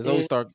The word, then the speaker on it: Zoe Stark: had me laughing, especially with what's her name, Zoe Stark. Did I say it right? Yeah, Zoe Stark.